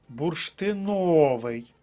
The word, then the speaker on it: бурштиновий: складається з восьми слів перше слово бурштиновий третій склад бурштиновий третій склад третя